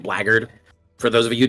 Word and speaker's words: blackguard: And for those of you who don't know what blackguard is, it's spelled blackguard, but it's pronounced blackguard.